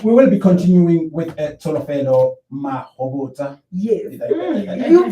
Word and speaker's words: Tsholofelo Mahobotsha: Yeah, we will be continuing with Tsholofelo Mahobotsha. Yes. You pronounced it perfectly well.